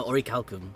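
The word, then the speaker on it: Orichalcum: Ori or is it Ori Cal no no Ori calcum Ori calcum I got to remember Ori calos Ori calcum until we learn otherwise or or calcum I'm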